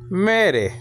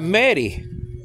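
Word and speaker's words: μέρη: Now, if you pronounce this in modern Greek, you're gonna have meri. That's the fallacy of pronouncing, of using, of pushing, or shoving, or forcing the modern way of pronunciation into biblical Greek.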